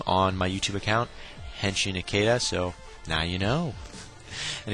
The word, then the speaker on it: Henshin Ikeda: checking my video out it's pronounced henin aada just putting that out one more time my name on my YouTube account henin aada so now you know